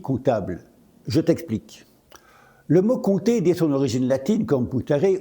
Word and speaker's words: compter: siècle, en ancien français, on disait compter avec un P qui se prononçait bien. À la fin du Moyen Âge, aux alentours du 15e siècle, le français a simplifié la prononciation de certaines consonnes dites implosives, celles qui se trouvaient au milieu des mots, surtout entre deux autres consonnes. Ainsi, le P de compter s'est fait discret jusqu'à disparaître à l'oral.